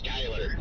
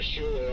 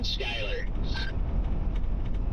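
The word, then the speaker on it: Schuyler: And nope, it is indeed called Skyler. Why? It's the same thing as the one in New York State. I think it's like literally the Dutch pronunciation.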